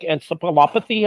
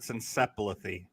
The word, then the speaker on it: encephalopathy: to make lightest CTE chronic traumatic encephalopathy I believe is the official pronunciation that's right I pay attention sure he was close at encephalithy encephalopathy potato potato tomato